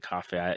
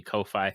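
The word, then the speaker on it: Ko-fi: I I pronounced it coffee, you know, coffee kofi.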